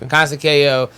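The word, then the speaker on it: Conceição: Consekio? Yes. Consekio? Yeah. Yes. Well, let's just that is how you say his name right there. Yeah. Consekio.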